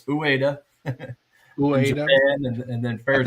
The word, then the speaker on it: Ueda: A lot of people don't know how to pronounce his name, but it's Ueda.